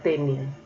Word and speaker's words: tenia: Miren la diferencia en la pronunciación. Mi hermano tenía una tenia. Tenía, del verbo tener, lo diferencio poniéndole tilde, y tenia sin tilde, entonces sería ese nombre.